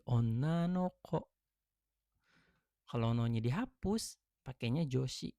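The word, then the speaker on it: 女の子: kunyominya nggak ada okurigana, jadi harusnya bisa disebutnya onna ko gitu kan. Dan ada memang betul. Cuman karena kalau onna ko itu nggak enak didengar atau nggak lazim, dia dibacanya tambahin partikel no. Jadi onna no ko.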